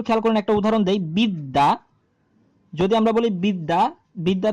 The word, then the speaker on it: বিদ্যা: আছে সেটা দেখবেন না যখন আপনি বিদ্যা উচ্চারণ করতেছেন তখন আপনার উচ্চারণ হচ্ছে বি দা দ এর সাথে আরেকটা দ তার মানে দুইটা দো তো আছেই এখানে এখানে